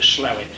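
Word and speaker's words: Slaithwaite: called slow it slwe it's spelled but they pronounce it slowet and it's a ro singles radio school I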